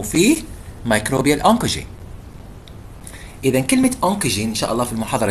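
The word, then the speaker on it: oncogene: إذا كلمة أونكوجين إن شاء الله في المحاضرة الجاية حندرسوا بعض الأشياء، وممكن في محاضرة اليوم أعتقد حندرسوا إيش معنى كلمة أونكوجين. فأونكوجين هو المسبب للسرطان، وتكتب كالآتي O-N-C-O-G-E-N-E أونكوجين.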